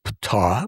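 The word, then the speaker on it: Ptaah: leader of their race, Ptah, pronounced p t a a h, like sounds like the uh ancient god of Egypt, Ptah.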